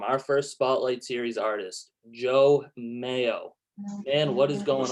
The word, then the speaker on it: Jeaux Mayo: So I'm Jeaux Mayo. You spell that Jeauxmayo. the French way, and Mayo, just like mayonnaise.